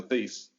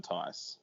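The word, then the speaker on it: Theis: like, I don't know if he's not a better player than Daniel Thies. Thies? I keep saying it wrong. He's got a higher ceiling than Tice.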